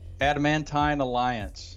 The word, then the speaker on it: Adamantine Alliance: Adamantine Alliance.